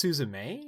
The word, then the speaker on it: Suzume: Is it pronounced Suzume? Is that the correct pronunciation? You could pronounce it like that.